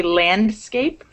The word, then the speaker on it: landscape: and they become silent so it doesn't mean that it's improper to say landscape it's it's proper but it's it's not